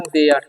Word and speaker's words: there: उसी तरीके से THERE है, तो इसका उच्चारण क्या होगा, यहाँ पर TH का जो उच्चारण है द हो रहा है, ठीक है, तो इसे पढ़ेंगे हम देयर, हेयर नहीं पढ़ना है, ठीक है।